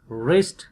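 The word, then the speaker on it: wrist: डब्ल्यू एंड are initial, rake, W is silent, रिस्ट, डब्ल्यू is silent, राइटिंग, डब्ल्यू is silent.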